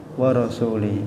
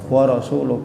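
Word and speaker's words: وَرَسُولُهُ: Ayatnya kan dijawab oleh si badui, annallaha bari'um minal musyrikina wa rasuli. Oh, itu salah. Bacanya bukan wa rasuli. Yang betul bacanya annallaha bari'um minal musyrikina wa rasuluh.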